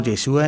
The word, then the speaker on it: Yeshua: decir Yahvé salva, y que se pronuncia Yoshua en hebreo o Yeshua en arameo, se doblen todas las